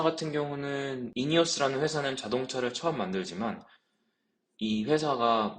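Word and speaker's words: INEOS: 영상을 오랜만에 키게 됐습니다이 회사는 인이어스라는 회사이고요 한국에서는 이네오스라고 하는데 정확한 발음은 인이어스라고 하는 거 같고 그리고이 차량 이름은 그런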